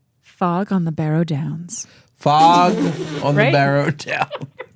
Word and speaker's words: Barrow Downs: fog okay def fog on the burrow Downs nope I said it wrong but okay but you borrow fog on the borrow Downs Barrow down oh my God St Barrow Barrow Barrow okay sorry fog on the Barrow Downs thank you so much